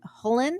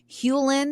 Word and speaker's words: Hewlin: Now this quote was submitted by John Hullen. Am I pronouncing that right? Hewlin, excuse me.